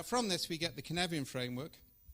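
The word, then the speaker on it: Cynefin: Knevian framework looks like this. Yeah. It's spelt like that, C-Y-N-E-F-I-N. Welsh is phonetic, right?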